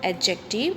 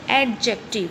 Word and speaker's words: adjective: Remember that d is silent in the word adjective. It is pronounced adjective. We will not say adjective, we will say adjective.